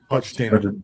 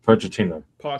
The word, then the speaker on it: Pochettino: Is that how you say his name? I can't say his name. Yeah. Pettino. Pochettino.